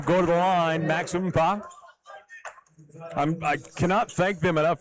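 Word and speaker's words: Mkpa: I cannot thank them enough for giving me a pronunciator for Umpa, and I hope I'm saying it right. His last name is spelled M-K-P-A. I would have never got that one.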